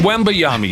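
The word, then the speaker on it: Wembanyama: stats okay wiba Yami wami is how you say it not even done yet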